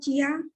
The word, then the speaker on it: chia: Bacanya chia atau cia atau apa, Reni?